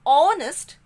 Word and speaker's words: honest: So that is why H is silent here. And since when we pronounce this word honest, the sound of O is coming, so I have placed an before it.